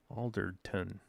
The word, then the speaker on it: Alderton: Alderton.